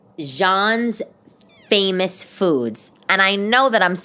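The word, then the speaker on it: Xi'an: right way but like it would be pronounced Zion Famous Foods but like if you just looked at it but phonetically but that's not how you say it I think it's Jean's Famous Foods anyway it's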